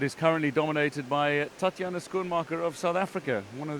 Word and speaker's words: Schoenmaker: Schoenmaker, am I pronouncing that right? Schoenmaker, Tatjana Schoenmaker.